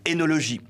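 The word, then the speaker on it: œnologie: voyelle OI, comme Édipe, énologie. Ces termes se prononcent avec un E, mais la prononciation E est devenue courante par confusion avec le second cas.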